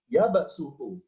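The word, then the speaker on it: يبسط: domin adalah huruf sinnya, ya baksutu. Jadi shotnya diganti dengan suara sin, ya baksutu. Karena di Al-Quran ada kodenya.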